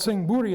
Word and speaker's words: Sing Buri: got this giant khmer ruin but it's called sing buri that singh bhuri is how the thai is pronounced singapura so in thai it's written out